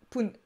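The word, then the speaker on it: 分: Donc, ce kanji, donc fun ou pun, se prononce fun après les chiffres 2, 5, 7 et 9. Aucune logique. Mais c'est comme ça. Et se prononce pun après les chiffres 1, 3, 4, 6, 8 et 10. Oui, faute de frappe. Et donc, les chiffres 1, 6, 8 et 10 qui précèdent pun se prononcent respectivement ippun, roppun, appun et juppun. On peut aussi dire juste jippun.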